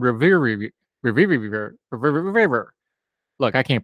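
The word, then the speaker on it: Relyvrio: AMX0035, is now called Revivir. Look, I can't pronounce it. It's an R with a Y and a V and an RRI, and you know us hillbillies can't roll our R's, so just trust me.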